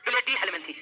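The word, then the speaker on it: Platyhelminthes: सबसे पढ़िए प्ले, ठीक है, इसको पढ़ लीजिए प्ले, और उसके बाद उच्चारण कीजिए किसका? डी का। उसके बाद उच्चारण कीजिए हेल का, उसके बाद उच्चारण कीजिए मीन का, और उसके बाद उच्चारण कीजिए थीज का। तो इस तरह से इस फाइलम का नाम हो गया प्लेटीहेल्मिन्थीज।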